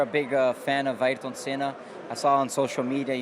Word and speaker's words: Senna: He's for sure a big fan of Ayrton Senna.